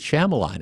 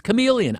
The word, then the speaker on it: Shyamalan: want to pronounce it Shyamalan and it's but I always I remember I know it's chameleon I get it and